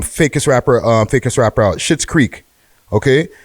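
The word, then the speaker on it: Schitt's Creek: rapper faker's strapper out shit's creek okay and it's spelled s-c-h-i-t-zed right so shit's like the last name that's with um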